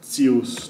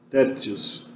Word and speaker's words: tertius: verdade é uma semivogal, ele acaba fazendo T ficar ts, ter. Tertius, né? Tertius, né?